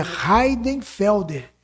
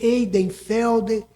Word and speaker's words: Heidenfelder: Por favor, peça a ela para quando me apresentar pronunciar o meu nome da maneira correta, que é Heidenfelder, mas ele é escrito com H e I". E tem gente que vai ler Eidenfeld, E uma série de coisa.